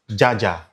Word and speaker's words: Jaja: The Europeans pronounced this Jojo as Jaja and that gained popularity.